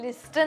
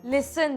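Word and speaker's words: listen: काय लिस्टन लिस्टन लिस्टन अहो लिस्टन नाही हो लिसन लिसन लिसन हं मग ती कशाला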